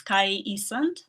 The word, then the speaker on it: Kai Isand: So we have our next speaker from Estonia, and her name is Kai Isand, if I pronounce it well.